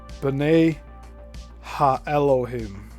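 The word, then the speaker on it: Bene ha-Elohim: Oh, they give pronunciation in parenthesis. Benet ha Elohim or sons of God or gods.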